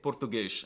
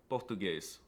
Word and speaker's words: português: Instead, they make silly noises like pronouncing S's at the end of words as an SH sound. So they say português instead of português.